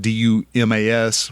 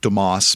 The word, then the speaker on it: Dumas: oh okay it's about d-u-m-a-s which if you're from the texas panhandle you pronounce that dumas instead of demos but still anyhow so